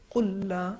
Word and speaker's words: قل لا: یدرککم قل لا, اصل میں یہ 2 ہے, قل لا الگ ہے لیکن ہم اس کو ملا کے کہیں گے قل لا اسألکم.